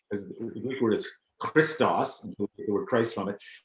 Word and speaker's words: christos: not an english word either we're just badly pronouncing our greek because the greek word is christos the word christ from it so there's nothing